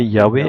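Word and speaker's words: Yahvé: Ainsi le nom devrait se prononcer Yahwé et cette âme sacré désigne Dieu créateur de toute chose.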